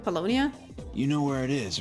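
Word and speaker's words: Paulownia Mall: me at Polonia Mall bologna that's that's how you pronounce it Polonia you know where it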